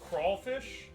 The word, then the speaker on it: crayfish: It's spelled crayfish, we pronounce it as crawfish.